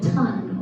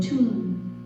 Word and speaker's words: tun: into what is called a ton or a tune like to say tune because that's spelled like ton so it is